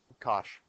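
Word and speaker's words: cosh: a hyperbolic cosine and it's written hyperbolic Kosh that's how they pronounce it now okay so what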